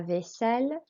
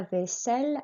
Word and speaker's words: vaisselle: Vaisselle is as it looks, a long S sound with a double S, and the L's are pronounced.